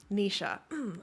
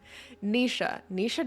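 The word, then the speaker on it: Naoise: Irish name pronunciation. Nisha. I'm so good. I got it. Okay. Thank you, Sage. I thought that I had learned it. But then I second guessed myself. Who's surprised? Anyways, Nisha Dolan, just truly an incredible voice as an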